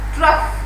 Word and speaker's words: trough: It is called trough. What it is called? Trough. Now GH is used. See, trough, GH is used as fur. Sound fur. F. Trough.